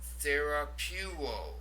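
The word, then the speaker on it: θεραπεύω: The word I heal, therapuo. Now notice the diphthong there, epsilon, upsilon, that has the U sound to it, therapuo.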